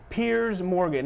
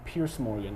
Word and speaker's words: Piers Morgan: That would be CNN's Piers Morgan, or as some people still call him, Pierce Morgan. I keep seeing people say his name is Piers Morgan.